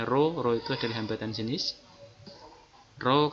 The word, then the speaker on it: rho: Sehingga disimpulkan dari persamaan ini R adalah rho, ini cara membacanya rho itu adalah hambatan jenis, rho kalikan L per A.